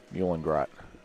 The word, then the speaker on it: Meulengracht: How do you pronounce that? Muhlengrot.